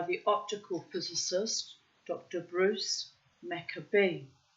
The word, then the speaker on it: Maccabee: Bruce Maccabee. So I pronounced that the Aramaic way.